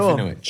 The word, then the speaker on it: Serafinowicz: Serafinowicz? Yes. Let's do it. Thank you so much for pronouncing my surname correctly.